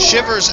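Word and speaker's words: Chivers: We're at 1200 Shivers Avenue in Buckhead, Georgia. Spell that C H I V E R S Avenue in Buckhead, Georgia.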